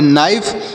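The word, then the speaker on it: knife: है घंटी की आवाज के एन आई एफ ई तो के का उच्चारण भी यहां पर नहीं होगा यन से पढ़ेंगे न आई का उच्चारण आई होगा या फ ई से फ पढ़ेंगे जैसे पढ़ेंगे नाइफ नाइफ मतलब होता है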